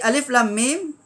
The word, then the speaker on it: Alif Lam Mim: ada di awal Alquran huruf muqota ini cara membacanya adalah mengikut nama huruf itu sendiri Alif nama Alif nama